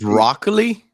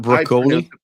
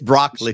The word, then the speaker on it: Broccoli: __ ] hate him isn't it broccoli not broli broli it's he's Italian it's an Italian name it would be pronounced broli no I don't think so it's Brockley way it's SP Craig would